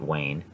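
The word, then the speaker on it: وين: have wayne or basically this is how it's pronounced wayne and that is where in levantine and then we have wayne again over here in iraqi so this gives you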